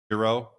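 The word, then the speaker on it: Xero: Hero is one spelled with an X. Xer O.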